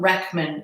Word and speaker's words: Rachman: His name is Tom Rackman. It's spelled Rachman.